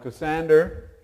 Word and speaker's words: Cassander: important people and important divisions so we have cassander c a SS a n d e r